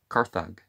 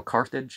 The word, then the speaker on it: Carthage: to complete his conquest now carthage and carthaginians is the more modern pronunciation and i'm i'm well aware of that but they didn't pronounce the g as a j when this book was written so well i mean